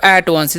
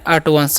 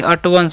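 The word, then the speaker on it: at once: anger ठीक है अब एट वंस इस क्या पढ़ते हैं अट वंस एट वांस नहीं अट वंस पढ़ते हैं ठीक है एट वंस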